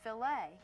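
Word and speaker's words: filet: It's pronounced filt.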